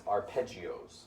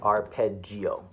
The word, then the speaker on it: arpeggio: But normally we call broken chords arpeggios. Have you heard that word before? Yes. It's spelled like this. A-P-A-R-G. I don't know. Arpeggio.